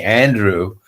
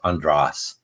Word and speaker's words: Andras: When I first came here, people started calling me Andrew, and they thought that I'd want to Americanize my name, but it's in English it's pronounced Andras.